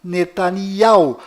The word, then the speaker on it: Netanyahu: bom volta no assunto fora de israel o nome deste primeiro-ministro é pronunciado benjamin metaniarro mas dentro de israel o nome dele é pronunciado benyamin netanyahu confira fora dentro fora benny